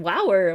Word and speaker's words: wower: We were Baba Jumis who were post Arti a little bit drunk on Baba's bliss, and I was saying wower. Well, that rhymes with sour, and other people were throwing in other words.